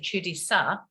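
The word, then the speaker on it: чудеса: and the land of chudi sar which has to have an accent on the a at the end um is magical miracles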